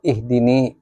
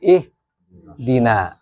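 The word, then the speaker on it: اهدنا: Walaupun kita salat sendiri, kita bacanya bukan ihdi atau ihdini, tapi ih dina itu na itu adalah jamak.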